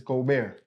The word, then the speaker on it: Gobert: That's how you pronounce it. Go. It's Go Bear. Goldberg. That's why they ain't Okay. it. What your name? Gobert.